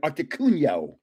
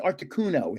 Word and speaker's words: Articuno: them, Moltres, Zapdos, and Articuno. Everybody says I say it wrong. I say it the Italian way. They go it's articuno. It's articuno. Most people can't say co.